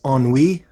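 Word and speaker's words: ennui: it's the five letter French word for boredom John what is on WE yes sir good job on the pronunciation too well it's a Canadian Heritage yeah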